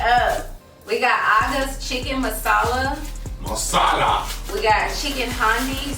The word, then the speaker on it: masala: Messiah.